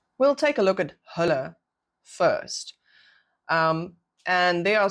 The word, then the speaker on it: hulle: We do not pronounce it as l. So we don't say h we say h.